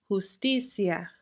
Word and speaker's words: justicia: So the words that don't contain the accent mark form what we call a diphthong between the I and the A, and we pronounce them together as one syllable, one sound that basically ends up sounding like ya, justicia, familia.